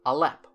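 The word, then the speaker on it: aleph: along the lines of alep or alp their word for ox pronouncing it as an ah sound or a glottal stop for the sound ba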